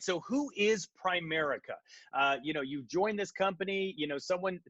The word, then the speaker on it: Primerica: Okay, a lot of people make a mistake and they call it Prime America. It's not that. Okay, nothing smells like rookie like mispronouncing the name, right? So it's Primerica, Primerica, just like that.